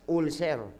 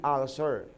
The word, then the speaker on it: ulcer: lumala na ulcer ulcer yon ang pronunciation sa Pilipinas ulser Oo nga pero the right pronunciation should be ulcer ha Sabihin niyo nga